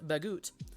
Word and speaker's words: baguette: sometimes made on a baguette or uh the proper pronunciation is bagoot okay so a bread